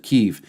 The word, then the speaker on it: Kyiv: This is an image right here of people fleeing Kiev, or as some pronounce it, Kyiv.